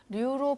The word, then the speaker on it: 류: 그 아마 그 뭐 대법원에 이렇게 소송까지 내서 류로 발음할 수 있도록 그렇게 판결을 받은 그런 성시예요.